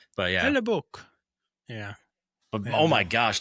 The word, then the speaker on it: Hellebuyck: So how do you pronounce that guy's name? Hellebuyck. Hellebuyck.